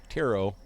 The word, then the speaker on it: Potaro: at least project taro potaro silent P right taro it's like tarot deck though it's still our